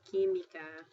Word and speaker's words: química: Okay, so QU sounds like a K So QU sounds like a K and so for example they give you química that actually sounds like (kee mee kah) the R (ere)--Laura, Rosa